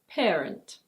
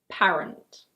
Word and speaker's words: parent: This word is: parent. It's not "PA-rent". In British English it's: parent. Parent.